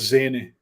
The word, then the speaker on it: Zineh: your last name correctly it's pronounced zany but you're closer than most katie so thank you thank